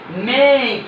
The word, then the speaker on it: make: তাহলে আমি খেয়াল করবো যে কোনো ওয়ার্ডের শেষে ই ভাওয়ালটা থাকলে এবং তার আগে একটা কনসোনেন্ট, তারপর আগে একটা এ থাকলে তাহলে এটা ই এর উচ্চারণ হবে, যেমন টেক, মেক, ফেক, ফেস।